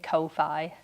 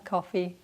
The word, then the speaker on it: Ko-fi: If you've never heard of coffee, I think I'm saying it right. For the longest time I was saying Ko-Fi, which I don't think makes sense. I don't think that's right. I think it's coffee, as in, because originally